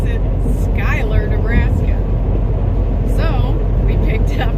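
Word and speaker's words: Schuyler: how you pronounce it i swear it's like hueller but she said you pronounce it skylar nebraska so we picked up in skylar and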